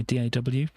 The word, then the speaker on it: DAW: uh music software my daw which means digital audio workstation or door you can pronounce it as you know double door and stuff like that